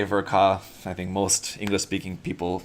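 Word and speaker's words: Ver.Ka: yeah it should be it should be kah because it's short for katoki uh it's not an acronym but in japan they do actually pronounce it version ka so if you like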